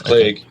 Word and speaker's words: Clegg: Because Cloug. I don't know how to say his name. I'm sorry. It's probably French, Clegg. and I don't speak French. Clegg. It's Clegg. Clegg is part-time, and so is.